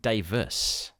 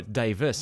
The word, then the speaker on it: Davies: And his name is spelt Davies, Davies, but it's always pronounced Davis.